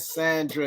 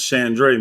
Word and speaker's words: Shandre: salute everybody we got Sandra in the building we got um that's shandre man you always say my wife name wrong man yeah Shand